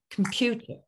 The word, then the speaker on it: computer: I need to say com because it is spelled computer. But it's not actually, of course, what it should be, computer.